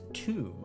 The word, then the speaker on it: Thoom: Thoom. Pronounced tomb.